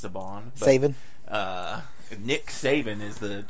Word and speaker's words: Saban: I'm pretty sure it's pronounced Saban.